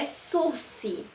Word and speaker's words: sursis: a forma se pronuncia a forma que se pronuncia Esso se porque a palavra sursis ela tem origem Francesa